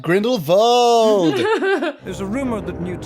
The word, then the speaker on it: Grindelwald: Yes, Charlie, you pronounce it right, Grindelwald.